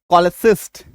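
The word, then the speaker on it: cholecyst: CH plus OL अगर किसी शब्द में आ रहा है तो ऐसे केस में भी हमारा उच्चारण क्या निकल के आ रहा है, हाँ, ऐसे केस में हमारा उच्चारण क्या निकल के आ रहा है, क, ठीक है।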